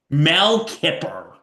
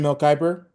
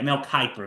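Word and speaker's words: Mel Kiper: Mel Kipper from Mel for ESPN. Mel Kyper. Yeah, Mel Kyper.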